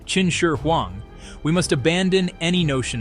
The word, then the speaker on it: Qin Shi Huang: To truly appreciate the tomb of Qin Shi Huang, pronounced Qin Shi Huang, we must abandon any notion of magic.